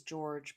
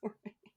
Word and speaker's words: Jorge: I used to think it was George, but I'm pretty sure it's pronounced Jorge.